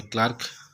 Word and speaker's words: clerk: যেমন কেরানি, এটা হবে ক্লার্ক, CLERK। ওই যে আমি পাশে উচ্চারণ লিখে দিয়েছি, কয়লে আকার কয়রে ক্লার্ক।